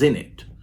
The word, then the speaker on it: innit: Jamaican communities in Britain started pronouncing isn't isn't it as in it and then British people